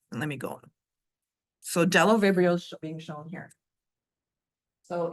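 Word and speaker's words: Bdellovibrio: example is Delo vial the B is silent so Delo vial is an interesting microbe it is well let me show you let me go on so Delo vibrio is being shown here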